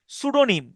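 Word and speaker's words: pseudonym: আরেকটা শব্দ আছে সুডোনিম। সুডোনিম। দেখেন এখানে যে পিটা উচ্চারিত হচ্ছে না।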